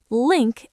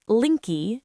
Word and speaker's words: link: Link ends with a sharp K. Make sure you don't add an extra vowel at the end. It's not linky, just link.